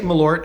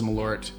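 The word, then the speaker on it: Malört: even really well anyway I say malort and everyone in the United States says milord people from Chicago says milord I guess it's me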